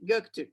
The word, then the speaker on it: Göktürk: Mi familia y yo vivimos en Göktürk. Okay, so this is a suburb, an urban district of Istanbul, where I live actually. So, okay, so it's read, it's pronounced excellent, Shelly. Göktürk, okay.